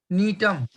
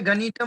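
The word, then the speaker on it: Gnetum: एक और लिखेंगे आप, जो वो 12th क्लास के 138 पेज पर डाला है, नीटम। अब यहाँ जी यहाँ भी साइलेंट है, गनीतम नहीं बोलोगे, नीटम।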